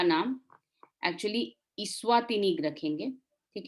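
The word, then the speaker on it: Eswatini: Country का नाम actually इस्वातिनी रखेंगे, ठीक है। ई स्मॉल है लेकिन वो अब उसको प्रोनाउंसिएशन में इस्वातिनी हो जाता है। एक्चुअली स्वातिनी होगा, ई स्मॉल है लेकिन वो इस्वातिनी हो गया।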